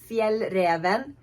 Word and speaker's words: Fjällräven: How do you pronounce it? It's called Fjällräven.